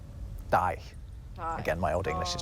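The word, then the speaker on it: dæg: It has a G at the end, although it was actually pronounced more like a Y. It was something like die.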